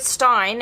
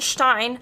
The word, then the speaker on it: Stein: stein in this script i don't know why i keep pronouncing stein i know it is correct but still it's stein um and it was